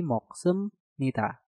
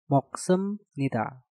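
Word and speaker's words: 먹습니다: Untuk contoh yang pertama ada moksebnida, dikarenakan biopnya harus kita rubah suaranya menjadi miem, maka menjadi moksemnida. Moksemnida.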